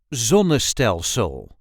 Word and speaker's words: zonnestelsel: Dutch, it would be zonnestelsel. This is the way we say zonnestelsel. Zonnestelsel. We put the emphasis on the very first syllable. Zonnestelsel. Zon, ne, stel, sul.